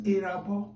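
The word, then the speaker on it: Erhabor: Pronunciation is Erabo, but it actually starts with E-R-H-A-B-O-R, Erabo. Okay, now, the other letter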